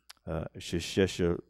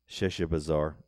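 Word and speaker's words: Sheshbazzar: Sheshabar. I could pronounce it early. Sheshabazar. There we go.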